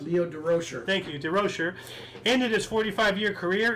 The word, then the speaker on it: Durocher: uh or Leo diera share how do you pronounce Leo durocher thank you to Rocher and it is 45-year career in the sport